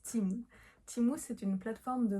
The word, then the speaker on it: Temu: va parler de timou je sais que tu as très envie de prononcer ça temu mais ça se prononce timou timou c'est une plateforme